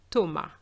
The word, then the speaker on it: Thomas: However, the pronunciation is different. So you have to remember that such a name doesn't have an S at the end pronounced, okay?